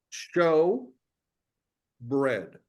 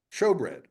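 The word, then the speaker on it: showbread: Show, like let's put on the TV show, and bread, like let's eat some bread. Show bread.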